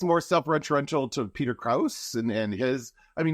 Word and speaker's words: Krause: you said it differently, his name is Krause. Is it? Yeah. Krause? Peter Krause. Oh, yeah. Like Germany.